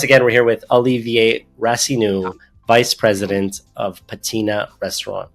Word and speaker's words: Rassinoux: least at least give them your name so spell it out Olivier rasu rasu is r a SS i n o